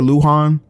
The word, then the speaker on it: Luhan: Yeah, that's how you say it, Luhan.